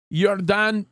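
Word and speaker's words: ירדן: And names, how do you say, biblical names that you would kind of recognize with the J in many cases have a Y.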